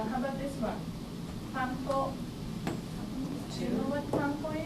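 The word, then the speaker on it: パン粉: In Japanese, we use mora. So there are 3 moras. Pa, in, ko. Panko, panko. How about arigato?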